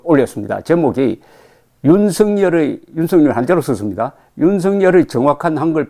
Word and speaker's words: 윤석열: 제목이 윤석열 한자로 썼습니다. 윤석열의 정확한 한글 표기는 윤석열이고 발음은 윤석열이다.